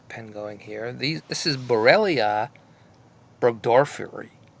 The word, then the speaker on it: Borrelia burgdorferi: So, Borrelia and Burgdorfia. Burgdorferi. Sorry. What a mouthful.